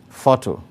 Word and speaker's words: photo: Number three, photo, photo. Now, photo varies from all the other words there because it alone has two syllables. And because photo is a noun, the stress is on the first syllable. That is why the stroke, indicating the greater emphasis, is placed on the first syllable. That is behind the first syllable, fo.